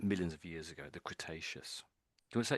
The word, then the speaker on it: Cretaceous: I think I thought I heard you say it correctly actually, but um so it's actually Cretaceious Cretaceous.